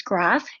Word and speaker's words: Groff: i answered it anyway if somebody says graph it's no big deal but we just see